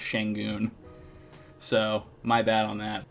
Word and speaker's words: Şengün: Actually, I probably got his last name more wrong because I said Sengun instead of Şengün. I believe it's supposed to be pronounced Şengün.